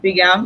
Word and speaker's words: Bigham: Today we have Lucilla Bigham. Did I pronounce it well, ma'am? Yes, you did. Lucilla Bigham.